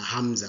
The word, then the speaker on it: hamza: This is hamza. And that's how we pronounce it. It's hamza. Very simple.